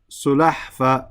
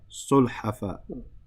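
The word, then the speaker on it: سلحفاة: This is sulahfa, but this is wrong. The sukoon should be on the lam and the fatha should be on the ha. Sulhafa.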